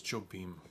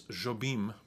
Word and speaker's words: Jobim: nova's over there uh it's jobim i think is actually how you say it in portuguese i'm not even sure